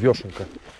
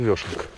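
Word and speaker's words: вёшенка: Точнее, правильно говорить, вешенка. Всю жизнь звала ее вешенка. Оказывается, вешенка.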